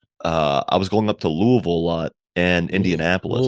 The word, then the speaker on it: Louisville: I thought you said, yeah, you enunciated a little too much. Louisville. Louisville. It's got to sound like you have like peanut butter in your mouth. Louisville.